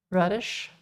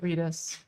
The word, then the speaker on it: Redis: First time you heard Redis read in an American accent. How do you normally, like, how do you pronounce it otherwise? I can't imagine it being called anything else. Radish? Okay, yeah, that makes sense. That makes sense. Yeah, we call it Redis, or at least I call it Redis.